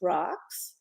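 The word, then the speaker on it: Roques: It's by Dominic, I think it's Rax, is the pronunciation.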